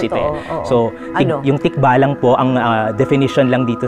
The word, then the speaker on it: tikbalang: Pero yung sa pagbigkas po kasi sa atin sa wika, yung G at K ay usapin lang ng voiced at unvoiced na sounds ito. So, yung tikbalang po, ang definition lang dito sa diksyonaryo na ito ay kathang nilalang sa kagubatan.